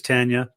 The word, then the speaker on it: Tanya: that that is the probably the most common pronunciation is people call her Tanya but it is Tanya so yeah it's a gotta give her respect